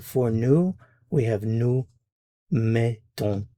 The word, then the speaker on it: mettons: Now, there's going to be a change here in the sound in the vowel.